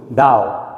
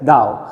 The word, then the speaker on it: thou: होता है, इसको आर्केइक इंग्लिश में कहते हैं THOU, दाओ। कैसे प्रोनाउंस करते हैं? दाओ।